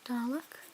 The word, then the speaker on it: Dalek: I'm pretty sure Tennant puts an emphasis on the lek, like Dalek.